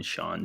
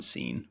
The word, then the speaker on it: Sean: of weird it's like it's like calling someone Sean scene it's like not seen dude it's spelled that way Sian my favorite cheese